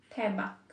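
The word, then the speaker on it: 대박: So, tebak. Tebak. Ibig sabihin, great.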